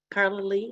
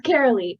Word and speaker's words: Carolee: any raised hands terribly Carla Lee how how do you say your name it's Carolee yeah um hi everybody